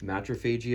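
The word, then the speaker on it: Matriphagy: We have the band Tallah with their album Matrophagy, I believe is how you say it.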